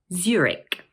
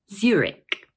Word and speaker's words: Zurich: This word is also made up of two syllables, and the first one is stressed.